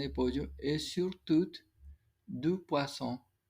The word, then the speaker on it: poisson: Et surtout, du poisson. Aquí tenemos doble S, esa se pronuncia como una S.